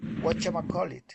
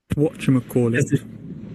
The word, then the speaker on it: whatchamacallit: Basically the pronunciation call it. What call it? Whatchamacallit. Whatchamacallit. Can you hear the the sound here? Watch him call it.